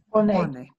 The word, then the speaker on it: pone: see pone and we your English brain wants to say silent E at the end of a letter. That is not going to happen, right? We have to pronounce all of the letters.